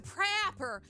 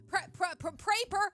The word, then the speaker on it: Praper: Thanks to Prapper. Praper. It's like paper, but with an R.